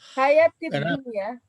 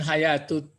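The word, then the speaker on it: الحياةِ الدنيا: Hayatid dunia. Hayatid dunia. Jangan hayatut. Kalau hayatut menjadi sifat pula nanti.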